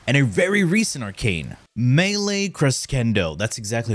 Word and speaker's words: Melee Crescendo: Melee Crescendo. That's exactly how you pronounce it, trust me, I know.